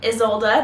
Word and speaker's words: Izolda: So Izolda, that's how I'm gonna pronounce it from now on because that's what Google told me.